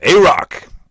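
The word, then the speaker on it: AROC: topic to teach to teach and pronounce it's pronounced a rock everyone say a rock for me boom that's average rate of change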